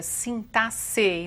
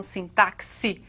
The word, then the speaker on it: sintaxe: sintaxe e assim mesmo que se pronuncia sinta sei não sintaxe com alguns querem né Então assim tá